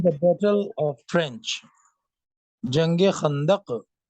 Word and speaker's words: Khandaq: So Nabi sallallahu alaihi wasallam was busy in the battle of trench, Jange Khandaq.